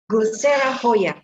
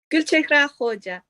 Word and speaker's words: Gulchehra Hoja: The first will be Gulsera Hoya. Am I correct? Gulchehra Hoja. Hoja.